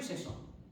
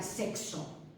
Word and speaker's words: sexo: Entonces sería correcto, pero digamos que la forma que ha tenido siempre de pronunciar esa X es, como os he dicho, una especie de KS, lo que tenéis aquí transcrito.